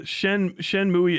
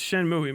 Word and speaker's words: Shenmue: I don't know if this is confirmed or You guys, Coriander, Shenmue isn't pronounced like that. Yeah, it's Shenmue, man.